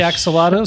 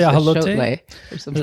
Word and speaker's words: axolotl: I just call it axolotl. Some people say axolotl. Some people say ahalote. Absolutely, There's like 3 or 4 different pronunciations.